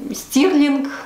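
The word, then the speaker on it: Stirling: Именно так произносятся эти шотландские города. Я сверяла это с англичанами, потому что, когда я рассказывала им, куда я ездила, они говорили, что я неправильно произношу. Данфермлинг я говорила, и Дунди, и Стёрлинг. На самом деле все звучит по-другому, поэтому названия этих городов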